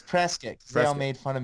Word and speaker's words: Prescott: I don't know how they pronounce it up there. It's Prescott.